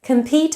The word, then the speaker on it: compete: Compete has a schwa in the first syllable, com, whereas in competition, com now has a full vowel.